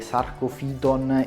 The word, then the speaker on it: Sarcophyton: sono stato sgridato perché avrei dovuto pronunciare il nome di questi due coralli alla latina quindi la pronuncia corretta sarebbe sarkozy ton e logo fillon in ogni caso ho